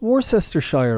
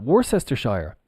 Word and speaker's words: Worcestershire: Worcester Shire of course isn't it worse Esther Shire no absolutely not the pronunciation is Worcester well we've got the Shire and maybe maybe I'm mistaken maybe they do it like this on the bottle I'm not sure if it's well this is pronounced Worcester and then if we add the Shire on becomes Worcestershire sure like sure yeah okay no problem